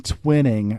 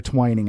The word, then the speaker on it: Twining: there was uh General Nathan twinning or Twining I think is how it's pronounced who was a chairman